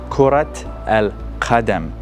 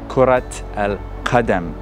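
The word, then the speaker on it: كرة القدم: So you see, we pronounce the ta marbuta because we are going to say al-qadam, kurat al-qadam.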